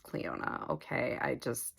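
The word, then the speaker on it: Clionadh: I don't I think I was saying like Clea or something it's pronounced Cleona okay I just i' never heard anybody pronounce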